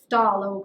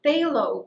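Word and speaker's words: phthalo: you've done Thal green which apparently does not get pronounced thalo green it's phalo green this is basically a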